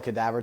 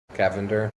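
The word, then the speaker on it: Cavinder: did uh fumble a cadaavver twin, so Cavender Cavender twin, not cadaavver.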